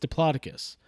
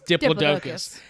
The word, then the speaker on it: diplodocus: this diplodocus which we all know is actually pronounced diplodocus uh but uh in in dino writers it's diplodocus and that was my all-time favorite dino writer's